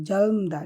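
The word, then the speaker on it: 젊다: আর কি জলমদা তরুণ এখানে উচ্চারণটা হবে জলম জলম জলমদা ঠিক আছে জলমদা তরুণ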